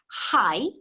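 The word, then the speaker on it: はい: all sorts of situations the word for yes is high rather like if you're you're high up or low down high doors or doors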